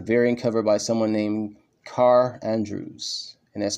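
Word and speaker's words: Kaare: Samnee, and a variant cover by someone named Carr Andrews, and that's spelled K-A-A-R-E, Andrews.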